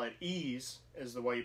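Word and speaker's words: Ys: Another series that I'm a noob to, and I believe you call it Ease, is the way you pronounce it, but it's Ease 8.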